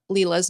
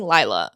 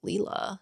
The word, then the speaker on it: Lila: that I've been saying Lila's name wrong. I've been saying Layla. I think it's Lila.